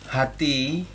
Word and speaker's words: HATHI: Fakultas Teknik Unsrat, kebetulan juga salah satu pengurus Hati Sulut, yaitu saya di Komisi Penelitian, Pertemuan Ilmiah dan Seminar.